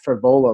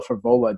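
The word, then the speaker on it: Frevola: least know their name it's Matt for Ebola like steamroller for vola don't pronounce his name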